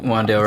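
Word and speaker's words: Wan'Dale: Wandale Robinson.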